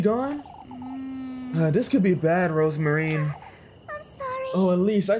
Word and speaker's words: Rozenmarine: Rosemary. It's Rosemarine. Shush it, you. Oh, shush, Rosemary. I'm going back inside. Yes. So she is mispronouncing. I didn't know if it was a translation error or if they just made a mistake. But no, she's literally just mispronouncing.